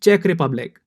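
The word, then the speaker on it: Czech Republic: बजाय सीसैट है और इसकी सही प्रनंसीएशन है चेक रिपब्लिक और इसकी सही स्पेलिंग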